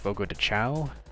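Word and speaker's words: Fogo de Chão: So, we got Joe Mousashi, we have Five Guys, we have Menches, I believe this is pronounced Fogo Dow, and then Funko Pop.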